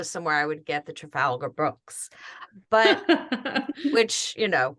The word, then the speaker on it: Trafalgar: butcher the name but Trafalgar is that the way you say it Trafalgar yep oh okay Trafalgar Church sponsored it